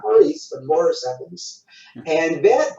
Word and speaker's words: Maurice: And then when he played the character Maurice on the show, he would say, no, you say Maurice.